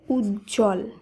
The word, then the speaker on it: উজ্জ্বল: শব্দগুলিকে উচ্চারণ করতে হবে তাই উজ্জ্বল শব্দে বর্গীয় জয় জয় যুক্ত ব্যঞ্জনের সঙ্গে বফলা যুক্ত থাকলেও শব্দটি শুদ্ধ উচ্চারণে বফলা কে বাদ দিয়েই শুধুমাত্র এই যুক্তবর্ণ সহযোগে শব্দটিকে উচ্চারণ করতে হবে তাই শব্দের শুদ্ধ উচ্চারণ হবে উজ্জ্বল একইভাবে সান্ত্বনা যেখানে শব্দটির